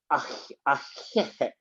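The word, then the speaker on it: Ahéhee': thank you in Navajo, when I read it, it can only be read like ahehe, ahehe. But the way you pronounce it, it's like you're creating something in your throat. It's like ahehe.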